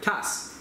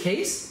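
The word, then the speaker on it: Käse: cage cheese spatula yeah cass is it case yes i just always called it cass it's spelled i'm sure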